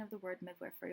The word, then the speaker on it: midwifery: It's the pronunciation of the word midwifery. Although it's commonly pronounced midwifery, Helvi shared with me that it's actually pronounced midwifery because according to Old English, mid corresponds to with and wif corresponds to woman.